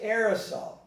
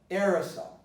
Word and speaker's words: aerosol: But this is A-E, and it's pronounced aerosol, aerosol, aerosol.